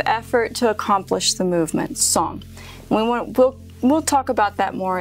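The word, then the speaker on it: sōng: There's a term for that, which is called song. Like a song, it's spelled S-O-N-G, and it means really just enough effort to accomplish the movement.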